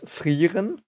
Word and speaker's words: Frieren: So I might say Frieren, but the correct clean pronunciation is Frieren.